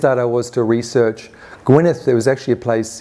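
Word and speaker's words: Gwynedd: I was to research Gwyneth there was actually a place in Wales spelled Ed at the end um it's pronounced Gwyneth in Welsh and it was a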